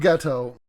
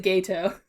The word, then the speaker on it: Geto: Suguru Geto. Now I want to say, in the dub they pronounce it Gato.